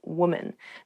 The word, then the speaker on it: woman: Even though the uh the singular and the plural form of women and woman have the same spelling at the beginning, w the pronunciations are different. Woman women. So watch out for that when you say this pretty woman.